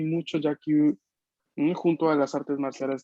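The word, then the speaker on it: 野球: Ok, solo atención que no es una sílaba larga al inicio, es yagi, yakyu, Yagi. yakan.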